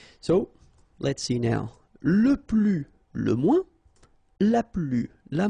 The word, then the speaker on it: plus: Okay, so keep in mind that I don't pronounce this final S here, so we get le plus, la plus, les plus.